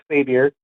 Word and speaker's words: Xavier: I've called in a few times, and it's pronounced Xavier, like Professor Charles.